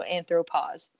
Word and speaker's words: anthropause: the missing po is it's still echoed in the pronunciation of pause so anthropos um this is very sciencey explanation of why you say anthropos but you know this